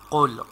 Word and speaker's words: قل: لكم دينكم ولي دين So here, qaf, and it is bold letter, so we have to pronounce qul. Qaf should be with bold sound.